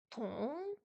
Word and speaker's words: 同: Le T est ce qu'on appelle une consonne aspirée. Il faut la prononcer en expirant de l'air avec une petite explosion, un peu comme en anglais. Dans ong, il ne faut pas prononcer le G qui reste dans la gorge.